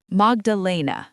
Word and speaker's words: Magdalena: Almost. Magdalena. Yes. The accent is on the third syllable.